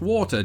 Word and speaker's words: water: And as you heard just there, I pronounce it, of course, water, just like most British people.